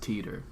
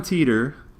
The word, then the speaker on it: Titor: titter and I'm future I'm gonna say it's probably pronounced Teeter I just want okay let's let's do I'm gonna say Tanner doesn't sound like a name okay fine John Titor uh-huh you know John